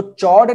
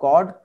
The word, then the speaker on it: chord: इसको चॉर्ड नहीं पढ़ना बच्चों, ठीक है, चॉर्ड नहीं पढ़ना है ना। इसका प्रोनाउंसिएशन क्या होता है, कॉर्ड, या ये कॉर्ड इस तरह से प्रोनाउंस होता है, कॉर्ड।